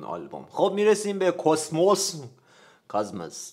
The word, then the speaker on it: کاسموس: خب میرسیم به کاسموس کاسموس در اصل تلفظ درستش کاسموس ولی خب کاسموس میگن سال ۱۴۰۱ و ۴۰۲